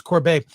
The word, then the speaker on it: Corbet: I don't know how to pronounce his last name. It's Corbet, yeah. It's Corbet.